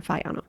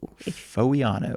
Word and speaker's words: Foiano: It is spelled F O I A N O. Foviano. If you're looking it up.